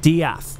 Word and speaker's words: Death: Dr. Death, but he's pronounced Diath.